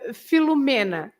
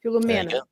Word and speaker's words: Filomena: And Filomena, yes. And she's right. The accent is on M-E, Filomena. Filomena.